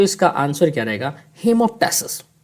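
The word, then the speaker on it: hemoptysis: हेमोप्टेसिस। क्या आंसर है? हीमोटेसिस। कुछ लोग बोलते हैं हिमटसिस हिमसिस भी बोल देते हैं।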